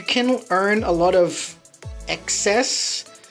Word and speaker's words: Xes: You can earn a lot of excess. Now excess is spelled XES.